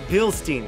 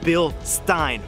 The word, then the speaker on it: Bilstein: said the name wrong it is not bilstein it's bill stein remember that folks but anyways as far